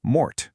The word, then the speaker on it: mort: And our ultimate root formula for today is MORT, which rhymes with fort.